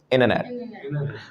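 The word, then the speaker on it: internet: एन के बाद टी नहीं लेते, इंटरनेट।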